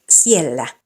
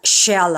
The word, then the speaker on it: siellä: In words with these letter combinations, S-I-S-U-S-Y, the letter H does not have any roll, so don't pronounce it. So it's siellä, not shella.